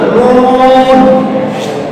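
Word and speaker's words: نون: জিহ্বার অপর তার উপর তালুর সাথে লাগে, এই তালুটা এই পরিষ্কার নুন, নুন, নুন এভাবে উচ্চারণ করতে হয়।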